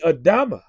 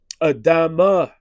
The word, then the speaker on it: Adama: When you go into the scriptures, the way that you would pronounce Adam's name should be Adama. All right? Because he was formed from the ground. All right? But the word there should be Adama.